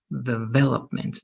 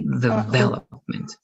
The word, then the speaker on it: development: This one, be careful with the stress. It's development, development. The stress is over here. Okay, development.